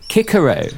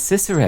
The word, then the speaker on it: Cicero: clearly not CU I I should have said Kiko earlier but I said Cicero if you remember well